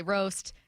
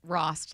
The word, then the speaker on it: Rost: but I don't know people see it they say roast they can't stop themselves uh and so I always say like Rost like frost but you take off the f is what I